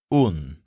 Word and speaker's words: un: It sounds kind of like the English word one, but it's pronounced un.